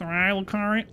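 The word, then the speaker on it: Raya Lucaria: The Academy of Rhea Lucaria. Actually pronounced Rhea Lucaria.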